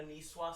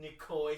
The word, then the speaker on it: Niçoise: Greg Miller once went to Barney's Rooftop Deck restaurant for lunch and ordered a niçoise salad and called it a Nicoy salad. You totally pronounced Niçoise wrong.